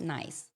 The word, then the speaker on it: NICE: Uh nurses in all shades, but it's pronounced nice.